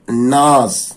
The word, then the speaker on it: gnaws: The bird gnaws. The G வந்து silent, அதை உச்சரிக்க கூடாது.